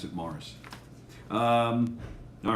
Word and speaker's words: Maurice: yeah yeah and it's spelled maurice but they pronounce it mars um all right how did boston miss everybody